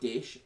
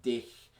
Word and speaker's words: dich: a hard German accent, dich, for instance, it sounds almost like dick, and so they obviously Sie liebt dich, they obviously found hilariously funny, and you can compare it.